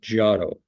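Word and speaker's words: Giotto: preaching to the birds so that's gato as far as I know on how to say his name okay the next one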